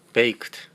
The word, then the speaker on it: baked: B A K D B A K D가 마지막 D가 T 발음이 나옵니다. Baked 어 구워졌다.